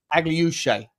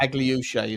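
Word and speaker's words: Akliouche: I listened through and I found some French commentary that actually pronounced his name correctly. Is Aglush Aglush? Okay. Aglush is his name.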